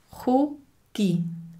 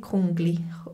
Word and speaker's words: Kugi: Kugi. Ohne N. Nicht Kungli. Kugi.